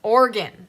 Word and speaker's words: Oregon: Oregon? Oregon. Like the organ.